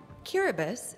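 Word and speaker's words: Kiribati: nation describing his area cubus the ti is pronounced like an S is a group of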